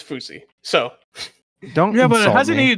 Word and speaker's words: Fousey: that's how you pronounce it that's how you pronounce it yes I thought it was fousy no it's fousey so don't hasn't he not been relevant in